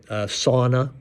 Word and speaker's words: sauna: That's sort of the basis for sauna, Finnish sauna. Sauna is the way they say it. It's the correct way to say it.